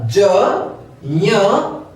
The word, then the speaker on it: ज्ञ: अगला है ज्ञ, इसका उच्चारण शुद्ध उच्चारण ज्ञ होता है, क्योंकि यह ज, ञ और अ से मिलकर बनता है, इसमें ग का प्रयोग नहीं होता है, ये ज्ञ है।